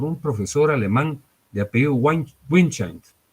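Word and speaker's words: Windscheid: Fíjense que esta tesis fue formulada por un profesor alemán de apellido Winchendt. Los alemanes lo pronuncian de una manera más sofisticada, pero yo lo pronuncio como lo leo, ¿verdad?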